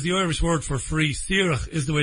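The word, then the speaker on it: Saoirse: way s is the Irish word for free sir is the way it's pronounced it's Freedom that's the the group it's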